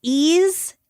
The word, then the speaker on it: eaz: And a couple different sources said they pronounce that as is, ease, or eas.